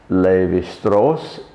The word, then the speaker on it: Levi-Strauss: So Mauss, for example, M-A-U-S-S, would be mouse in German, but it's pronounced Mauss in the French way, and Levi-Strauss is pronounced in the French way.